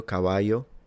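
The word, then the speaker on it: caballo: caval okay now the way he pronounced the double L sounds Latin American because I believe that in Castillian Spanish from Spain. Please correct me if I'm wrong. This would have been pronounced a bit like a Y. So something like Cababayo Cavayo. I'm not actually sure.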